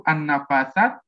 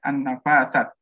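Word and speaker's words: النفاثات: Maha Suci Allah ya, an-nafasat. Itu kan dari segi pengucapannya pun, ya, kalau dari tulisannya kan an-nafasat, ya, harusnya itu tulisannya tuh sini kan ya, ada tanda berdiri ya, harkat berdiri.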